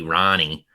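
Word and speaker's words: Rahne: So I think they're well coached with Ricky Ronnie, which I always think should be like Rain or something with how it's spelled, but then people say it and I'm like, oh, weird.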